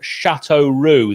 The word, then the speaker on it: Châteauroux: regarding our new club, Châteauroux. That's how you pronounce it, Nick, even though it's spelt differently. So phonetically, that would be SHATOH Roux.